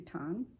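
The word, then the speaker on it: WTON: Ton, which stands for White Terrier of the North, it's spelled W-T-O-N, so I believe the W is silent, so that would be Ton, was used mostly for long flying shots.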